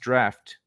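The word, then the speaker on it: draught: Jar is pronounced draft.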